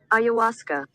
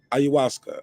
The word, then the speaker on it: ayahuasca: okay let me hear how i say it ayahuasca ayahuasca okay ayahuasca ayahuasca one more time ayahuasca all right that's how it's pronounced all right let's talk about it shout